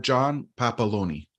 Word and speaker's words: John Papaloni: Because I'm scared to mispronounce. It's John Papaloni.